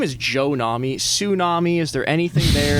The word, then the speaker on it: Nahme: so my name in Arabic, my name's actually pronounced Nahme, but Got you. Americanized version. it's an Americanized version.